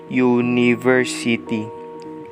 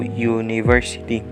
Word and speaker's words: university: Well, it starts with letter U, but it's pronounced as university with the first letter of how it is pronounced is Y then O and U. So, university and this is just